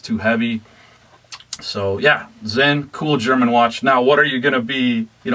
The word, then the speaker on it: Sinn: Now, Zen is actually spelled, it's German, so it's spelled S-I-N-N, but you say it Zen.